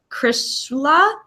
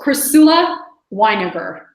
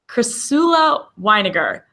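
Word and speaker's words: Chrysula Winegar: I'm going to pronounce her name wrong, but Krishla. I'll pronounce it for you. It's Crisula Weiniger. Crisula Weiniger.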